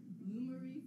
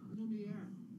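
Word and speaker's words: Lumière: Loomery from Beauty and the Beast. Lumiere.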